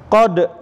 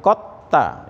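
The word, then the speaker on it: قد: Qad sungguh, tadi kita bacanya kota ya di idgham ya, idgham mutajanisen. Jadi bukan qad tapi kota ya, langsung da-nya dilebur ke ta ya, dilebur.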